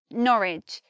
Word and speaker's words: Norwich: here we've got Ridge they're spelt the same but one came comes out with the sound and one comes out with the sound it's which Norwich spelt the same sound different another thing is lit